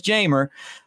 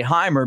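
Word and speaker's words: Jeimer: say hey it's this but it is jamer uh some guys that have the same exact spelling would say Heimer because the the J is a h sound but not to him so it's jamer candelario that's what he's going with and um I I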